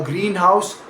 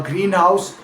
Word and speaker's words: greenhouse: a single compound noun compare a greenhouse. A single compound word for a glass structure for growing plants stressed on the first syllable against a greenhouse. Simply a house that happens to be painted green stressed on second word.